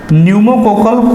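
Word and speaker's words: pneumococcal: इसकी नई वैक्सीन है न्यूमोकोकल कॉन्जुगेट वैक्सीन, ठीक है ना। पी कहने का मतलब पी साइलेंट है ना, न्यूमोकोकल कॉन्जुगेट वैक्सीन नाम करके इसकी वैक्सीन है, PCV वैक्सीन।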